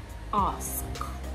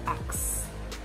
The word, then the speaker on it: ask: That's the same thing you have in ask. So you don't say ax. Ask.